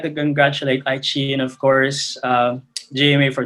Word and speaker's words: iQiyi: Before I wrap up lang my side of the presentation, I like to, I guess, stress or reiterate that the pronunciation of the brand is iQiyi.